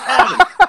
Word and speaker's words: Kieran: Kieran, stop yelling at me. I'm talking in my normal voice. And for the billionth time, my name is pronounced Kyron. It's Kyron for the billionth time.